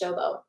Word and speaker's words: Sobo: His name is Nishobo, Niyi, and then his last name is Sobo, but pronounced Shobo.